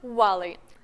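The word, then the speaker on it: valet: обманчивая слова на английском валай обратите внимание слово пишется как валет а произносят бывалой и нет это далеко не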